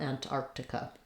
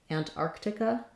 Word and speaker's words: Antarctica: Again, being careful to make sure we have this K in Arctic, Antarctica, and then the I and the K. This is probably going to be an I sound. I've written it here with the schwa like an taka, because you really want to be light and short on it.